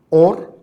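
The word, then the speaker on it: עור: Es curioso, pero luz en hebreo se pronuncia or, ¿verdad? Se escribe un poquito diferente. La letra primera es la Aleph, ¿verdad? Y en la otra es la Ain. Pero por lo demás son casi idénticas, y se pronuncian igual, or y or.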